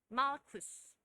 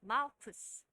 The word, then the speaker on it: 마르쿠스: 마르쿠스. 한 번 더 해보실까요? 마르쿠스. 말고. 말고의 귀를 잘랐는데 그 말고는 영어 표현으로는 영어 발음으로 마르쿠스였습니다.